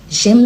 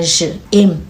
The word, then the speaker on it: j'aime: Okay, you pronounce it together because there's an apostrophe between the J and the A now.